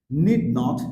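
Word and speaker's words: needn't: should সুডেন্ট সাডেন্ট সাডেন্ট নিড নট নিডেন্ট নিডেন্ট নট নিড ইন নিডেন্ট নিডেন্ট নিডেন্ট ডান্ট ডান্ট একটা sound আসবে নিডেন্ট নিডেন্ট নিডেন্ট নিডেন্ট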